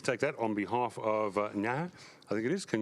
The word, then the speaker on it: Naha: Thank you, and please take that on behalf of Naha. I think it is. Can you pronounce it? Naha.